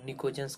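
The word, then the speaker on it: pnictogens: Group 15 का elements जो होता है उसको हम निकोजेंस कहते हैं। क्या कहते हैं, इसमें पी साइलेंट रहता है, जिसको हम निकोजेंस कहते हैं।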